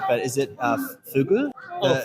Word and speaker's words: fugu: I'm not sure if I got the pronunciation right, but is it fugu? Oh, fugu.